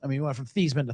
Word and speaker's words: Theismann: He pronounced his name 2 different ways. I mean, he went from Theismann to Theismann.